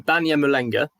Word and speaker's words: Banyamulenge: How would you pronounce this again? So they're called the Banyamulenga.